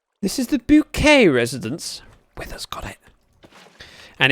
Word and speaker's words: Bucket: But she would, rather than answering the phone, bucket residence, it was bouquet residence, because that's how she chose to pronounce it, because it sounded better.